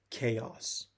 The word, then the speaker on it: chaos: It's pronounced chaos.